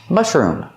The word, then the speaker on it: mushroom: And then room with a long oo, like food. Room. Mushroom.